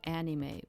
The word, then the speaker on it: anime: By the way, we say anime, but they do not say it like that in Japan, okay? Because your A is it's an A that sounds like an A for them, okay? So it's it's more like anime.